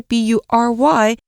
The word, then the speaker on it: bury: Bury 这个动词呢，是掩埋或是掩藏，你要注意它的发音哦，虽然是 B-U-R-Y，不过念作 bury。那课文当中呢，是一个分词构句，原句是 White hydrants could be easily overlooked when they are buried in snow。那接下来呢，这个 overlook 这个动词指的是忽视或是忽略，所以白色消防栓在积雪当中可能会被轻易忽略。